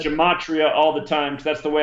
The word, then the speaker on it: Gematria: So the subject is Gematria. That's the proper way to say the word. People who follow me hear me say it. That's what I said. Gematria all the time because that's the way I